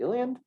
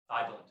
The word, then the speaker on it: Idland: is it Iliand? Number 23, 28 North Grove Street. Sorry, I'm having trouble reading that. How do you say that? Idland, Idland.